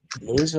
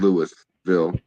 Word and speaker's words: Louisville: It's spelled Louisville, but I live in Louisville.